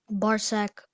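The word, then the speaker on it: Barsac: sack may have the part of speech now bar sack um could you repeat all the information bar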